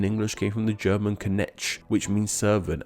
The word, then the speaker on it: Knecht: The word night in English came from the German Knecht, which means servant, and this word is pronounced with no silent letters at all.